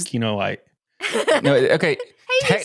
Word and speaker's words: Kinoite: say that you're, It's okay if I can't pronounce Kinoite. no, okay. Hey, you said Technically- it right. So technically, it is Kinoite.